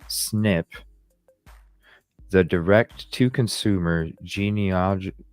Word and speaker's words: SNP: variable positions are called single nucleotide polymorphisms SNP pronounced snip the direct to Consumer